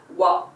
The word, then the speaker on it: は: is very much right the pronunciation of this character is ha only but only in exceptional cases it is read as wah if you would have